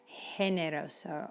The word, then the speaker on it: generoso: is different in spanish in fact when it's followed by the letter e it's an h shot like generoso or gigante and this example is